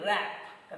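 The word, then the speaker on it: wrap: Then rap. W is silent there.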